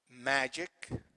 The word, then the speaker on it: magic: Magic, magic, see ik, see magic, the first syllable here is stressed.